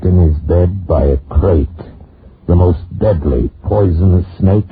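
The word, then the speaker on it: krait: Tonight, we escape to India story of a man trapped in his bed by a crate, the most deadly, poisonous snake in the world, as Roald Dahl tells it in his terrifying story, Poison.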